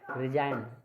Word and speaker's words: resign: पहले जी आ जाए तो उसमें जी इसमें साइलेंट है। रिजाइन, RESIGN रिजाइन, रिजाइन जिसमें जी एन से पहले जी आ गया है वो साइलेंट है।